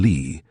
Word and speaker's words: Lee: I mean she was an actress and used her stage name, Juanita Lee, pronounced like it was spelled plain Lee, but she was mostly called Nita Lee.